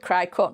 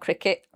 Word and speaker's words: Cricut: That's why I call it Crycut, not Cricket.